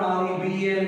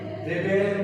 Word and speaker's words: rebel: Another word, R-E-B-E-L in spelling. In verb, it is pronounced rebel means bagavat karan. In noun, it is pronounced rebel means bagi.